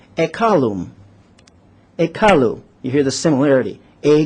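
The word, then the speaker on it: ekallu: Semitic language from the Sumerian language and it's pronounced at column a car Lou you hear the similarity a doll and the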